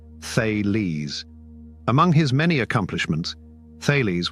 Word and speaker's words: Thales: thales who lived around 624 to 546 BC pronounced thees among his many accomplishments thees was the first